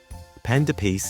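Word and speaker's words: pain d'épices: favorite for so many panda pce is spelled pan Which is p a i n which means bread in French and toce spelled D apostrophe EP p i c s which in French means spice it can also be called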